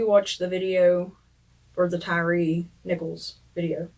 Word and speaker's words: Tyree: Last night we watched the video for the Tyree Nichols video. I'm not sure how you pronounce his name. Tyree. It's Tyree.